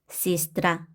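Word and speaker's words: сестра: 두 번째 규칙, 강세 앞에 예, 야는 이로 발음을 한다. 한번 보도록 할게요. 약화된다고 보시면 돼요. 인슈니에르, 인슈니에르, 시스트라, 시스트라, 니프라브다, 니프라브다, 이직, 이직, 프리모이, 프리모이.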